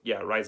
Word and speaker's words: Araiza: Araiza is how you say it.